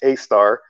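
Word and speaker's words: Sagittarius A*: A massive black hole known as Sagittarius A, pronounced A star, lurks at our galaxy's center.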